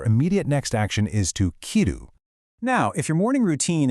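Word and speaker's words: 着る: So, the absolutely crucial point here is correctly pairing fuku, the noun for clothes, with kiru, the action of putting them on. Notice the crisp pronunciation of the action, kiru.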